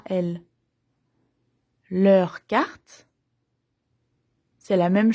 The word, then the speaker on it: elles: Elles. Les autres, elles. Au pluriel. Eux, attention, je prononce pas le X. Eux. Elles. Je prononce pas le S.